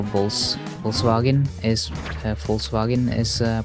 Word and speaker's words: Volkswagen: V is f but W in German is pronounced like a V okay right see that's